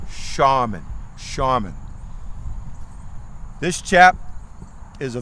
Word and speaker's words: Showman: raleigh raleigh charmin now although it's s-h-o-w-m-a-n sounds like showman they actually pronounced it shaman shaman this chap is